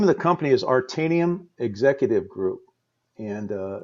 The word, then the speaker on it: Aretanium: The name of the company is Artanium Executive Group, and it's spelled Aretanium, Artanium Executive Group.